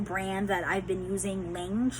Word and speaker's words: Lange: Uh it was a new brand that I've been using, Lange, if I'm pronouncing it right. L a n g e. There is an accent over the L. I think it's French.